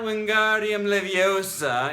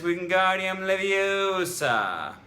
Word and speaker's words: Wingardium Leviosa: It's not Wingardium Leviosa, it's Wingardium Leviosa.